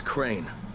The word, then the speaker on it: Crane: no my name is crane okay crane rhymes with train and brain and sane and clean and rain and plain and the other kind of plane and and but can